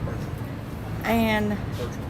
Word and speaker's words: Percheron: Is that how you say it, Percheron? Yeah, Percheron. And if they're all black Percherons, they can be ridden in the Headless Horseman, the Halloween parade.